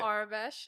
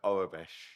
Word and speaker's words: Aurebesh: Arabesh, is that the right way to say So it? Orabesh. Arabesh. Orabesh. So it's Aurebesh.